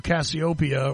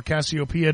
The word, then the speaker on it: Cassiopeia: Well, right, and you're traveling 3 million miles to Cassiopeia, or Cassiopeia, depending on how you pronounce it, not something that most of us are going to realistically have the chance to do in our lifetimes.